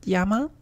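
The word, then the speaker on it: 山: It's pronounced yama and it looks like a mountain range.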